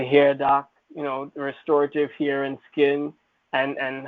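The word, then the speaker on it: Rxestorative: your hair so it's restorative the x is silent we have to i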